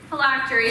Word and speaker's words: phylactery: country miss park your word is the lactory phylactery am i pronouncing that correctly yes thank you may i